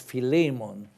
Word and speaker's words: Philemon: Greek tell me that in Greek it really should be pronounced Philemon. But whichever way you pronounce it, it is the same thing.